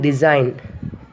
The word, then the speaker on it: design: Then G in design. D-E-S-I-G-N. But we won't pronounce the letter G.